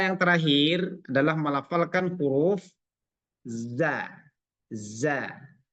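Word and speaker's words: ظ: ini dia kebalikan pertama dia tidak ada angin atau suara pengantar apa namanya e anginlah ya dia termasuk huruf jahar Jar Itu artinya Dia ee huruf kalau diucapkan maka tidak mengeluarkan nafas tidak mengeluarkan nafas tidak mengeluarkan desis tapi suaranya dia agak ee nafasnya agak tertahan Za Za makhrajnya sama H Za Za tapi tidak boleh Z Za jangan sampai ada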